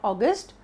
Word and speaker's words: August: Not August, it's August. Okay, the stress is on aw. Let's move on to the